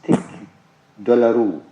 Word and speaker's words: tic douloureux: The very painful condition is called trigeminal neuralgia, and its Latin name is tic douloureux. This is how it is pronounced.